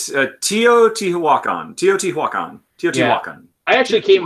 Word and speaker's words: Teotihuacan: I'll make sure that but that's how you pronounce it? Teotihuacan? It's Teotihuacan.